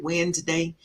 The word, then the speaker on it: Wednesday: today today is Wednesday wedness day lots of letters for no reason because we just pronounced it Wednesday wef annual meetings CB